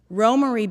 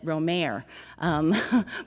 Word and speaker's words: Romare: gave to each other romarie bearden as we called him uh as uh his family pronunciation when i got to graduate school people said romer but romari was uh uh always uh the name that i heard um was a cousin